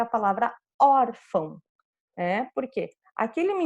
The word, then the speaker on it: órfão: Então, fica aqui eu quero saber que eu tenho que pronunciar essa primeira sílaba forte, or, e a última nasal, fão, ok?